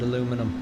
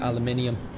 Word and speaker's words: aluminium: So, like that she'd um she'd call it aluminum instead of aluminium.